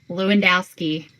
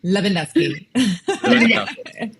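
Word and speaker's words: Lewandowski: So, we are going to have your friend and mine, Mitch Lewendowski. He can correct us if we're saying his last name wrong. It's more like It's more like Leandowski.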